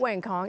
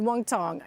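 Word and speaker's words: Wang Cong: This woman right here, Wong Tong, and it is not Wang Kong. It is Wong Tong. It doesn't look like it's spelled that way, but that is how it is pronounced.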